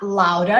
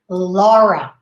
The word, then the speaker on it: Laura: whose name is laura but you are not louder in english okay we say laura laura and this the next one